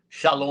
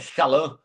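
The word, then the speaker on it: שלום: A palavra shalã. Shalom. Aí na verdade é shalã.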